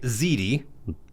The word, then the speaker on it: Ziede: So, um, Ziti, pronounced that right.